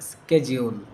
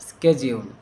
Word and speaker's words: schedule: কিন্তু এটা বিদেশীরা যেভাবে উচ্চারণ করে স্কেজিউল। স্কেজিউল।